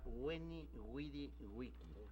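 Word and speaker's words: veni, vidi, vici: Se supone que sonaba Weni, Widi, Wiki.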